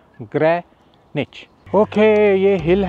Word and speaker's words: Greenwich: वो यह है कि हम इसको प्रोनाउंस करते हैं ग्रीन विच जो कि बिल्कुल गलत है। इसको ग्रीनविच नहीं कहते। इसको कहते हैं ग्रेनेच। ग्रेनेच।